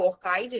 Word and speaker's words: ORCID: Eu recomendo que vocês façam o login com o Orcid, quem já tiver, o Orchid, né? É a pronúncia, para quem também conhece como Orchid.